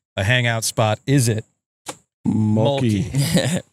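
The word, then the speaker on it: Mölkky: Is it Mölkki? Mölkki. Oh, is that how you pronounce it?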